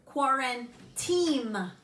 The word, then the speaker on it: QuaranTEAM: QuaranTEAM, right? Like a team, not quarantine, but QuaranTEAM.